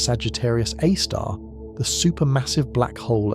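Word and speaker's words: Sagittarius A*: This is Sagittarius A, pronounced Sagittarius A star, the super massive black hole at the center of the Milky Way galaxy.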